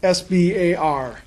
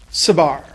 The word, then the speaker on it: SBAR: Do not go up to him and say, Dr. SBAR, here's what I have to tell you. His name is SBAR. He is an incredibly nice guy. He really is. He's a good teacher. He's easy to approach. He explains what he's doing. But his name is pronounced SBAR.